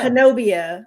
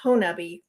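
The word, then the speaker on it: Honobia: little town called Honabi and it looks like Hanobia on a map but it's pronounced Honabi from the locals who live there.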